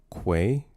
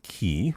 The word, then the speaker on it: quay: It's pronounced quay. Uh sing with me now. With a Q. With a Q. Quay. Quay. Yes. Yes. Yes. Not key.